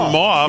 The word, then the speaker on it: mauve: I was thinking mauve. Yeah. But I didn't want to try to say it and say it wrong. But mauve is rhymes with suave.